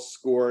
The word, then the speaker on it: SCOIR: Okay, we are using this new program called SCORE, and it's spelled SCOIR.